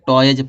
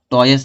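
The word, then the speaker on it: toys: इसको क्या पढ़ा जाएगा, टॉयज पढ़ा जाएगा, टॉयस नहीं पढ़ा जाता।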